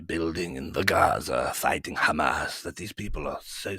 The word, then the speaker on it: Hamas: So I want to ask you, what do you think Israel should do with Hamas? Well, Ollie. First of all, it's pronounced Hamas.